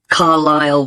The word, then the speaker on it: Carlisle: and your address 45 carlyle way could you spell carlisle for me sorry it's c a r l i s l e you don't pronounce the s carlisle way and that's